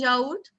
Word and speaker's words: yaourt: What is yaourt? Yogurt. Then in the end we have What is the pronunciation of yogurt? yaourt. Friends? Yaourt. O-U-R-T as ourt.